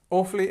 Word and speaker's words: awfully: prefix, so it starts, the stress is at the beginning. We have this long verb sound here, awfully. We have our schwa again, so this is this sound, and the li at the end, awfully.